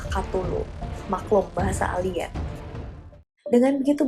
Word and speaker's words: Cthulhu: Lovecraft sendiri menggunakan beberapa pengucapan yang berbeda selama bertahun-tahun. Salah satunya adalah Klalu, tapi yang paling sering digunakan adalah Cthulhu.